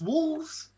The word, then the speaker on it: Wolfs: It's Wolves, but it's spelled WOLFS.